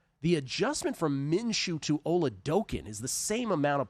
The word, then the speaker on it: Oladokun: Johnson, Max Brosmer, or Chris Oladokun, I'm told is the pronunciation. Oladokun, yes. Oladokun, like smoking Chris Oladokun. That's how you remember it.